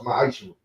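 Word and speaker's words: מעשר: It means 10th in Hebrew, and it's pronounced ma'ashur.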